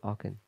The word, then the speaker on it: Aachen: I think that's the Battle of Aachen. I'm not sure if I'm pronouncing that correctly. It's in Germany. Schlacht von Aachen. Is that where we had a camp meeting? Aachen.